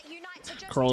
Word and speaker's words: Carl: Carl is pronounced the same as Carol.